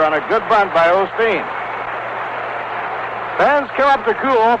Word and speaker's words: Osteen: now the hitter is the pitcher claude osteen rod is an irishman and his name is spelled o-s-t-w-e-n you pronounce it like it were